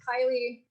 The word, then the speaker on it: Kailee: And joining me right here is Kaylee. Hey, Kaylee, how you doing today? I'm doing great. Yeah. That's good to hear. Yeah, just to FYI, it's pronounced Kylie.